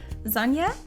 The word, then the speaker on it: Sonja: It was kind of my sign for me because my name is Sonja. And the German word for sun is Sonne, so Sonja and Sonne share the same first syllable.